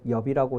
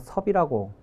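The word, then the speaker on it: 葉: 분은 이게 이제 옆자인데 사람 성 혹은 지명의 쓸 때는 엽이라고 읽지 않고 섭이라고 읽습니다 그래서 이제 석공인데 저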